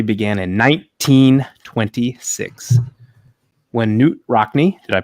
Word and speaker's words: Rockne: Notre Dame rivalry began in 1926 when new rockney did I pronounce that correct Ryan you got it all